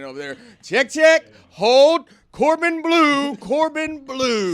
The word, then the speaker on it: Bleu: My name is Corbin Blue. What? BLEU. Yeah. It is BLEU. That is how it's spelled, yes.